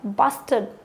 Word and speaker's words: bastard: घटिया, bastard, यहाँ पे R साइलेंट रहेगा.